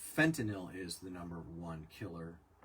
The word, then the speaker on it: fentanyl: it's really really sad point of order f-e-n-t-a-n-y-l yeah is pronounced fentanyl fentanyl um fentanyl fentanyl it's